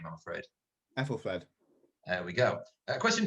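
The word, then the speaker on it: Æthelflæd: Braden, I'm going to have to turn to you for the correct pronunciation of this name, I'm afraid. Ethelfled.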